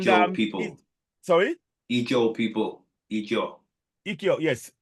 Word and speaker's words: Ijaw: Ijo, yes. How do you spell that again?